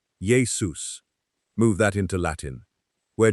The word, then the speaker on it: Iesous: And Yeshua becomes Iesous, pronounced something like Yesous.